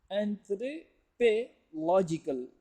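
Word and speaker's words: anthropological: इसके अंदर बहुत ख्याल रखिए कि एंथ्रोपोलॉजिस्ट, एंथ्रोपोलॉजिस्ट, एंथ्रोपोलॉजी, लेकिन एडजेक्टिव में थोड़ा सी डिफरेंट है. एंथ्रोपोलॉजिकल, एंथ्रोपोलॉजिकल. तो इसको इस तरीके से यहाँ पर प्रोनाउंसिएशन में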